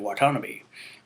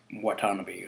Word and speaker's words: Watanabe: Serizawa, who is played by Ken Watanabe. I really hope I said his last name right. Watanabe.